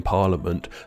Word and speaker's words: parliament: silent H in chrome, a silent I in parliament, a silent K in